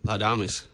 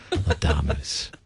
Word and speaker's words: Laudamus: connect speaking of translating words yeah have I mispronounced the name of this Ensemble no you nailed it lamis there you go my choir teacher would be would be proud lamus so what what is lamus what what is